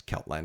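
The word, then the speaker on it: Celtland: But it's just Keltland, right? Or am I pronouncing it's Keltland, right?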